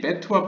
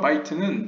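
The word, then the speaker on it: בית: Your bet의 단어와 bite 발음만 다르지 bet와 bite는 집이라는 의미로서 다른 소리일 뿐 같은 글자로 되어 있습니다. 그래서 bet라고 읽을 수도 있고 bite라고 읽을 수도 있습니다.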